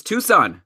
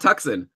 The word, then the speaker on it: Tucson: we're mispronouncing city names so it's Tucson not tuckson by the way and I'd